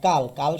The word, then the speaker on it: কাল: আর কাল শব্দের পরে কাল প্লাস অ এসেছে, যেহেতু অ এসেছে বিশেষণের পর, যার কারণে এটার উচ্চারণ কেমন হয়ে যাবে? সংবিত ও এর মতো, অর্থাৎ উচ্চারণ হবে কালো।